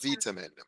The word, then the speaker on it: vitamin: something interesting also that the British pronounced this vamin vamin vamin you won't get enough vitamin but the Americans for example I'm a I'm a chichan American but we say vitamin vitamin v v vitamin and we use it